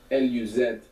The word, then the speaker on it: luz: And the word luz, L-U-Z, so actually this Z would be pronounced th in most of Spain, luz.